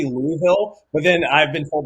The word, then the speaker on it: Louisville: All you got to do is imagine your mouth full of marbles, Louisville. And Louisville. Then if you pronounce all the syllables, you're doing it wrong.